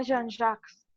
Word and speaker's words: Jean-Jacques: En realidad el nombre de Rousseau se pronuncia Jean-Jacques. Gracias, querida. Yo estoy pésimo para los nombres. Pero gracias. Jean-Jacques Rousseau.